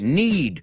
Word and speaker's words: knead: K-N-E-A-D, need. O sea, acuérdate de esta frase. I need to knead the dough. Tengo que amasar. O sea, suena igual que need, pero se escribe K-N-E-A-D.